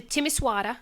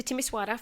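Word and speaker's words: Timișoara: yes right yes everybody let's fly in to timisoara am I pronouncing that right yeah so you can fly into timisoara from England from Luton I looked there are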